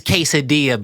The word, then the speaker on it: quesadilla: They were making fun of how I said quesadilla at first, and it was like, oh my God, we hate when Americans say quesadilla. Okay, why it's quesadilla, Blaze, all right?